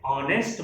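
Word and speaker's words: honest: Same उसी तरह से ऑनेस्ट मैन, ऑनेस्ट मैन, ओ, स्पेलिंग भले ही एच से शुरू हो रही है लेकिन साउंड अ की है, तो ये एक वॉवेल साउंड है, इसलिए इसके पहले एन का यूज हुआ।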